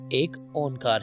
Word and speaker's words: ایک اونکار: بانی سے ہوئی ہے۔ گرو گرنتھ صاحب کا پہلا حرف ایک یا ایک ہے، اس کے بعد پھر اوم اور پھر کار آتا ہے، جس کا صحیح تلفظ ایک اونکار ہے۔ بس اس ایک اونکار